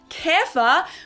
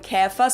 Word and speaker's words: Käfer: Some examples in German for this would be gähnen, to yawn, gähnen, or Käfer, which either refers to a bug or the Volkswagen Käfer, so the Volkswagen Beetle.